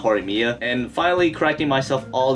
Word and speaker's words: Horimiya: i got started i've been calling the series hori yama for some odd reason not horimia and finally cracking myself all these years just